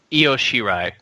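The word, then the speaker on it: Io Shirai: even say that right how how do you guys say it iOS shirai iros shirai thank you won the women's wrestler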